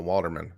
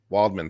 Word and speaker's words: Waldman: arguments deal with waldman a walderman is it walderman or waldman i can't remember waldman thank you two syllables his best arguments are